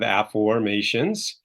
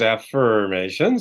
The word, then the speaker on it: Afformations: I'm known as the Father of Afformations, which is not the same as affirmation, so I'm not saying it wrong. It's a new word for most people. It's afformations.